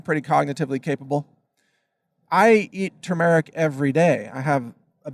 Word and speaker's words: turmeric: There's an R in there, Turmeric, turmeric.